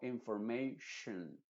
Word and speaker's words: information: Entonces diríamos information, y luego la vocal O se pronuncia como una schwa. No se dice information, sino information, shun.